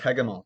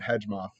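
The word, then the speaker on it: Hegemol: oh really yes hey come on oh it's pronounced hagemal thank you okay um i was gonna i was gonna pronounce it hedgemoth uh but yeah so you get to you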